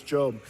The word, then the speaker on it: Job: The book of Job, spelled like Job. His name was Job.